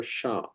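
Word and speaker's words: Ш: Well, this is the Russian letter sha. Sha for shuffle.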